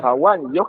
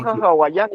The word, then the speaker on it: hawani: Hawani, hawani. Entonces, elimino la Y y mi expresión sería noja hawani, ¿ya? Noja hawani. Esa sería la respuesta, ¿ya? Entonces, Entonces, hawaiani, entonces está mal pronunciado.